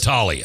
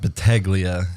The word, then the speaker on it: Battaglia: yeah uh battalia is that is that three syllables or four four uh you do it there Balia as long as it's not blia no no no no it's see I'm a